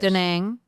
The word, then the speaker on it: Da Nang: Da Nang.